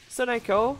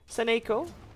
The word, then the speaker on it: Saneko: Instead of saying Soneko, I should say Saneko.